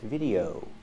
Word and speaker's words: video: that didn't go there it's pronounced video you have to use a long o sound like no and go the sound Starts Here o oh the sound moves forward to your lips oo at the end again oh video this is today's video